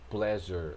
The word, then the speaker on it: pleasure: Ou seja, pleasure, essa palavrinha aqui, a gente não lê pleasure ou pleasure ou algo do tipo. A gente lê pleasure. Você vai pronunciar como se fosse um J, a letra J em português, jur.